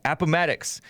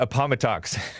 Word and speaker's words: Appomattox: At Appomattox. I used to call it Appomattox. But there's some listeners who live in Appomattox, I think is what it's pronounced. And it's not Appomattox.